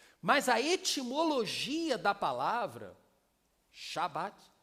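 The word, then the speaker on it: שבת: Não é Sabat, é Shabat.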